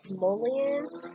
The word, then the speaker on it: mullein: So the next one is, and forgive me if I'm pronouncing this wrong, this one is mullein. It's spelled M-U, pardon the noise.